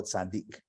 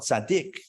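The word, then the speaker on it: צדי: know lasers um uh some people will pronounce this letter Sadi and not go Sadiq really yeah some claim that the original name of the letter is Sadi but we call it Sadiq why because that means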